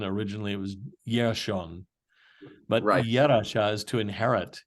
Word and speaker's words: Jershon: The root that we would pronounce, well, we pronounce it with a J, but they would pronounce it with a Y. I mean, there is no J in Hebrew.